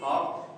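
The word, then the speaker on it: half: तो dear L silent इस वजह से होता है क्योंकि एल के बाद यहां पर एफ आ गया।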